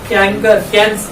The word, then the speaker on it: chancre: CHANCRE, कैंकर, कैंकर पढ़ने का या चांसर पढ़ने, ठीक है। वो प्रोनाउंसिएशन पे तो कुछ नहीं है, कैंकर, ठीक है।